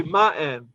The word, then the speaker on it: Martin: Because they would say Martin. Yeah. They wouldn't pronounce the T.